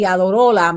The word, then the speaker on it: Iadarola: John Iadarola, I want to say Iadarola because I want to say his name in Spanish this time, and Julissa Arce